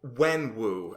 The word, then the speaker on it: Wenwu: Yeah, like I thought the way they handled when Wenwu, Wenwu or Wingwu? Wenwu.